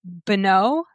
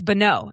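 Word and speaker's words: Bonneau: Beno. It's Bono. That's what what it is. B O N E A U. Bono. Okay. So, it's Bono.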